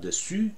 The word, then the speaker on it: dessus: But dessus, over, I've heard different versions.